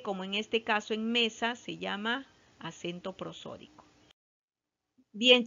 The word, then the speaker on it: mesa: Dice mesa, se separa en sílabas. Mesa, ¿ya? La más fuerte es me, la sílaba tónica. Y la que no tiene la fuerza se llama átona, que es sa.